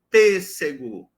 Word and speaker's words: pêssego: portanto a sílaba tônica na palavra pêssego nós não temos sílabas uma tônica é nesse P esse P pêssego tem três sílabas a primeira sílaba P